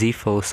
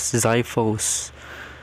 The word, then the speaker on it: Zyphos: Why do you pronounce it as Zphos, honestly? Pretty sure it's canonically, pronounced as Zyphos. Like, I'm pretty sure Mara made that clear.